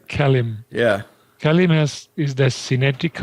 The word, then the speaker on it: KELIM: The KELIM is how we pronounce that. KELIM, right. KELIM.